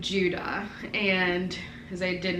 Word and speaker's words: Judah: i love the name judah and as i did not like that he was like it's huda and that's just it's not how i would pronounce it so it was just